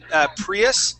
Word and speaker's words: Prius: remember um that uh Prius that I you can pronounce just like a like a Spanish Eye there okay okay but then that U you'd go back to a an American short u sound Prius Prius okay okay